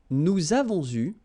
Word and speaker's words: nous avons eu: Okay, so here you can see that we make double liaison. Nous avons eu.